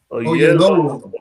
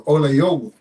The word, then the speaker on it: Oyelowo: How you pronounce that? Oyelowo. That's Yoruba. Oyelowo.